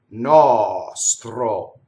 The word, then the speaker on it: nostro: was a separation, but the S is completely on the second note. So you have two notes for this word, nɔstro. So you're very careful to put the S. So if I did it in slow motion and you did it wrong, it would be nɔstro. And what are you doing? You're not phonating, right? Your vocal cords are disengaged if you do it that way, and it's not so good.